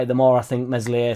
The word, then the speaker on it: Meslier: increasingly light there will meslier silent s start the more I think about it the more I think meslier silent s is starting